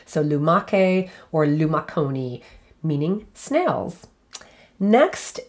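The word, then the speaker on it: lumache: so luma koni or lumake and i'll spell that l-u-m-a-c-h-e remember again that c-h is a hard k sound so lumake or lumaconi meaning snails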